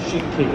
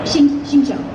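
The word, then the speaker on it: Xingqiu: So you're Bennett and Shinki, is that right? Shincho. Shincho, sorry.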